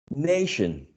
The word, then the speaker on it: nation: And the last one, nation, nationalize, nation. How do you, which is the syllable you stress when you say nation? The first one.